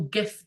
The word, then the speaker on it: GIF: the pronunciation that's right the person who who originated the word pronounces it gif is that correct is